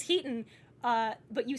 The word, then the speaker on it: Hiten: so my so affectionately you have been saying my name wrong is he ten it is it's heaton uh but you say